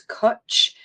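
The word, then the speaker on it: cwtch: And it's cooch. So, it's spelled C WT C.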